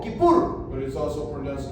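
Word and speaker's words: כיפור: es así se escribe en hebreo pero se pronuncia también como kipur Okay la palabra y es día en hebreo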